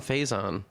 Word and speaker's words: Faison: Adam Faison. Hey, Adam, how's it Am I going?